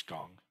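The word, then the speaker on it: 工: Pronunciation is gong.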